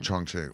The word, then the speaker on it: Chongqing: This is the correct pronunciation. Chongqing.